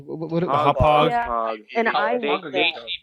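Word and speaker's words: Hauppauge: How's it pronounced? Hodgepodge? What? Hopog.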